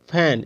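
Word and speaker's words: feign: बोलेंगे डिजाइन इसको बोलेंगे फैन इसको बोलेंगे नेट ठीक है यानी जी के पहले अगर सॉरी एन के पहले अगर जी आ रहा है तो उसका उच्चारण जी का उच्चारण नहीं होगा तो डिजाइन मतलब क्या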